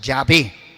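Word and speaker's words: Yahvé: soy el que soy aquí ya es un nombre que el pueblo judío no pronuncia ya ve siempre que aparece la palabra ya ve pronuncia señor mi señor adonay ahora dios a moisés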